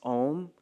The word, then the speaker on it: Om: A lot of times people will pronounce Om, Aum, right? A-U-M. But when you take these three syllables and you put them together, the rules of Sanskrit dictate that when you pronounce it, it turns into Om. So even though it can be spelled A-U-M, the way that it is pronounced should be Om.